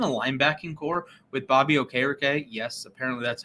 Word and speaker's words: Okereke: Imagine a linebacking core with Bobby Okereke. Yes, apparently that's how he pronounces his name.